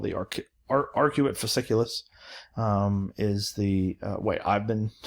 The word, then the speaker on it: arcuate fasciculus: broca's area and they're called the arc are arcuate fasciculus is the way i've been taught to pronounce it but we know what wernicke's area